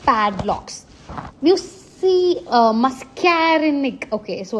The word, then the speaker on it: muscarinic: So the brake pad blocks you see uh mascarinic. Okay. So it's pronounced as mascarinic receptors.